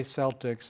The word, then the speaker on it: Celtics: the Boston Celtics yeah they do say Celtics it's I I hear it's the only place in the world where that word is pronounced with a soft C instead of Celtic so so Lewis says